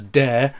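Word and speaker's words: DÄR: And yet, manufacturers such as DAR, the pronunciation of whose name literally sounding retarded, DAR, although that pretentious umlaut probably means I'm supposed to pronounce it as dare, as in I dare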